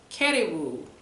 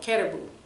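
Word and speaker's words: karibu: The third word is you're welcome, and it's caribou. It's like the animal, caribou. Pronounced the same way, spelled differently.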